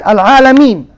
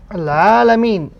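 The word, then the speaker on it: العالمين: But you do not pronounce the fatha. You do not say al-alameen. No. It is wrong. So you pronounce al-alameen. Stop.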